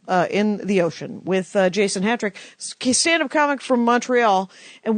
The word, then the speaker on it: Hatrick: And your name is Jason Hatrick, which is spelt like hat trick. Correct. One T.